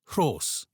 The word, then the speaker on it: Rhos: Roll your R and add a breathy sound. Rha. Try saying it with Rhos.